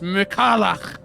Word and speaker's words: Michaela: the tour soon enough you mispronounced her name it's Michaela in the meantime we've